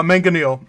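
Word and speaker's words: mangonel: Uh, manganil. It is going to be the um ballista is here and the manganel is directly opposite on the front of the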